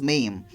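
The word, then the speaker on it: Mme: Student, double M-E is pronounced as Mame, and this word is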